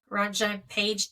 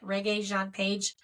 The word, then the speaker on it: Regé-Jean Page: Ron Jean Page. Damn it, Regé Jean Page.